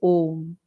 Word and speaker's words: Om: one phonetic this thing though it contains a when you are pronouncing it when we are saying it it is om one one syllable it is the one syllabled word om the great protector aati